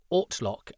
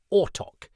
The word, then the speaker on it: Ortlock: Ian is scripted to mispronounce Ortlock as Ortok, but it sounds like William Russell instead goes with Orklock. To our ears, it's not such a gross error, so the way Ian's